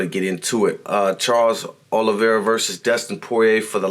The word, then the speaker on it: Oliveira: Can Dustin Poirier beat Charles Oliveira? Ooh, I said his name wrong too. Charles Oliveira.